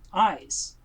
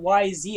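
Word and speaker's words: YZ: is y z brilliant i also made a pronunciation for them because it's ab and eyes oh my god it's eyes i'm an eyes it's like big sense it's not y z i was like that's dumb to say so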